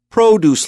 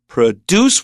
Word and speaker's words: produce: I put my stresses on produce labels, that first syllable, not produce, which means to make, which is an extremely